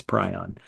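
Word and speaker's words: prion: And I just know when I put that video up and I talk about prons there's going to be comments that say you're pronouncing it wrong. It's pryion.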